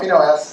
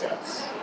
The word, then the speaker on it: FINOS: I've heard multiple ways of pronouncing it. I'm not really married to it, but it's not FINOS, it's not FINOS, it's FINOS.